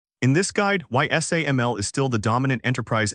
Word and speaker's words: SAML: Today we're unpacking SAML Security Assertion Markup Language, pronounced SAML.